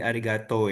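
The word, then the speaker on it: ありがとう: kayak kayak Arigato jadi arigato ya. Heeh. Kan sebenarnya tulisannya kan arigato. Kalau hiragana itu arigatou. Jadi sebenarnya tuh dia cara bacanya tuh yang benar agak panjang.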